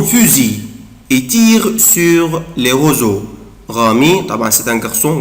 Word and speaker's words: roseaux: les roseaux roseaux القصب roseaux طبعا لسه أنا برضه نطقها يا أولاد نطقتها زد autrefois Rami prend son fusil et tire sur les roseaux.